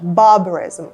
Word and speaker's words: barbarism: the Second Time і Зверніть увагу на вимову слова barbarism barberarism варварство це суто британська вимова американе сказав би barm Тобто там була би оця р там більш ричащі звуки в американській англійській а тут Борис каже barism barism baris наче нема там букви Р взагалі і Да